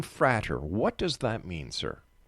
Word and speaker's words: Frater: First of all, I have to ask you, the name Frater, what does that mean, sir? It's actually pronounced Frater.